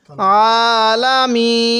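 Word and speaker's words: العالمين: হরফ হলো এই ইয়াটা মদের হরফ থাকলে সেখানে তিন আলিফ টান দিতে হবে তো এখানে আমরা তিন আলিফ টান দিব আলামিন এবার এখান থেকে আলহামদু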